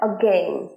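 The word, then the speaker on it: again: এগেইন নয় এগেইন নয় দেখো প্রোনাউন্সিয়েশনটা এগেইন খুব ছোট গেনের স্ট্রেসটা ফেলছি আমরা এগেইন এগেইন আ বলছি না ছোট করে এগেইন এগেইন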